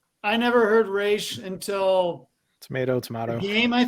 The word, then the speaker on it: Ra's al Ghul: from Tennessee so well they pronounce it Raz Al ghoul in the movies so you know I